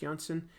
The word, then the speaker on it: Janson: JJ Jo Robin Steen Klaus Janson I think it's pronounced Johnson and Kevin Nolan I